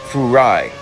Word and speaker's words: Furai: it's more properly pronounced Furai and that's kind of funny because it sounds like the word fry which ends up being